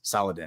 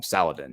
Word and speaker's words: Saladin: his name but um the Ang Anglia version is Saladin that's what people call him throughout history in the west is they call him Saladin so he uh he